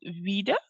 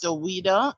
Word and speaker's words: Owida: Vida. I'm not sure. I'm sorry if I called it incorrectly. You may unmute your mic and raise your question or comment. Yes, good afternoon. The pronunciation is Owida.